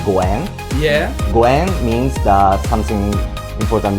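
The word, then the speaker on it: ご縁: In Japanese, 5 is go. Go. Yen. Go yen. Uh-huh. And that pronunciation is similar to goen.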